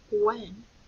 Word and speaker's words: when: And when we hear the word when, that W sound in this word is spelled with a W-H.